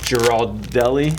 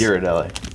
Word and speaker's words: Ghirardelli: I'll stick that on there, along with a brought some Girardelli. How do you say this? Ghirardelli. That's how they Okay. say it in France. Come on. There's an H in there. Girardelli. Ghirardelli.